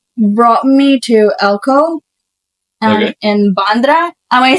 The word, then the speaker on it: Bandra: and then they brought me to Elco in bandra am I saying it right yeah yeah and